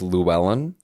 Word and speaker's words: Llewellyn: I believe it's Llewellyn. Okay, that's how you phrase it. It's 90 L's are in the last name, but our producer's nodding his head.